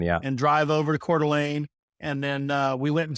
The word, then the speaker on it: Coeur d'Alene: So I've got a friend of mine that lives in Coeur d'Alene.